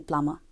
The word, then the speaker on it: plumber: The S in Ireland, P in psychology, H in honest, and B in plumber.